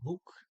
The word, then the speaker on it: bok: boot condo the the bok is going book so the basic pronunciation of an o is ooh double low it's not going